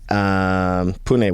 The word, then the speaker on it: Pune: So by the time this episode comes out, I will be in India, in GopherCon India, in Pune. Pune, which is how you pronounce it, by the way.